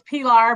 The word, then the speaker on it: Pilar: Next up, we'll have Pilar and Sarah Calder. Ms. how'd I do on that name pronunciation? was good. It's Pilar, but that's okay.